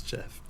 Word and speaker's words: GIF: And in that exporting, It's Jeff. it's pronounced Jeff.